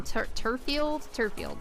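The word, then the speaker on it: Turffield: The geoglyphs that are in Turfield, that's how you pronounce that, Turfield town.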